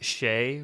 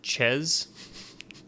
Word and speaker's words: chez: Right, we do say things like chez rather than ches, right? Because that's the French pronunciation of the word.